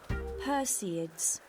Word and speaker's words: Perseids: Perseids.